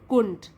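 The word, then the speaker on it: couldn't: हम लिख लेते हैं और डी आता है, उसको हम साइलेंट मानते हैं, कुंट, इस तरीके से प्रोनाउंस करेंगे आप।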